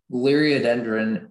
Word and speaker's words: Liriodendron: Liriodendron is the only pronunciation.